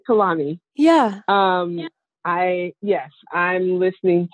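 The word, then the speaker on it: Kehlani: know I'm listening to I'm gonna probably say her name wrong Kalani well that's right Kalani yeah I yes I'm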